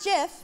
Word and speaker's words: GIF: this is about the JF wow you nailed it um no and it is pronounced JF because the programmer who created it said choosy programmers choose GIF and someone told me